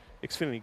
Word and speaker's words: Xfinity: regulars and speaking of excuse me xinity series man that's twice today and I've gone like the whole year without saying the series name wrong hey folks it's right here Xfinity great supporters of our